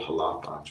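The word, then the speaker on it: Xalapa: Mexico there really is there's a city called halap with an X but it's SP it's pronounced ah yes thank you thank you okay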